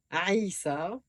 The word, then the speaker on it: Aïssa: Ça vous fera sortir la lettre Ain. C'est juste un petit truc pour prendre l'habitude et pour prononcer désormais correctement Saïd, Omar, Aïssa et d'autres.